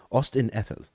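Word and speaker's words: Ost-in-Edhil: in with Tolkien with the Elvish language is pronounced like a the right so Ethel right Austin Ethel right correct me if I'm wrong down in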